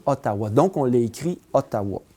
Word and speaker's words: Ottawa: européen qui débarqué ici la façon dont l'algonquin ou lire couaillier pouvait prononcer le mot haddaway sai sonnait comme ottawa donc on les écrit